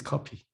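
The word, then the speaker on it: 커피: alone with this one coffee coffee is copy but it's like a hangulish hangout like a korean pronunciation so can you have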